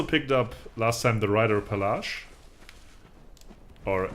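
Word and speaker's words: Reiterpallasch: Yeah, we also picked up last time the Reiter Palace, or Reiter Palace, as I would pronounce it in proper German.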